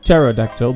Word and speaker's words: pterodactyl: Let's punch this pterodactyl, the P is silent after all, and activate this teleporter.